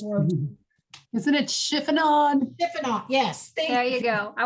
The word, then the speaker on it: chiffonade: are those called somebody smarter than kenna that pronounces word isn't it chiffonade yes there you go i wasn't sure what